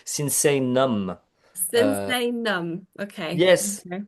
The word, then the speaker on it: Sinsaenum: You've put an extra I, but it seems like we really need to change the name because everybody makes the same mistake. Sinsaenum.